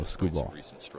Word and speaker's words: Skubal: It's a Scooball with 4 Ks in his first name, or in his last name. It's S-K-K-K-K-U-B-A-L, Scooball. Pretty simple to spell. Well, the Cardinals trio of it's just pronounced with like there's one though.